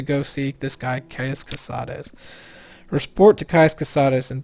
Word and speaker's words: Cosades: I know it's Kais, but I don't know how to pronounce this last name. So I always just say casades, even though it's probably couses.